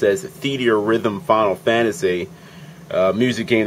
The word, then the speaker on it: Theatrhythm: Today I'm going to be showing you the Japanese demo to what I believe to be pronounced as Theatrhythm Final Fantasy, a music game that features music from across the entire Final Fantasy RPG series.